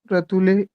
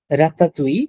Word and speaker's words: ratatouille: Dans le un des restaurants, la ratule folle, ils servent au très bon ratule, Ratatouille.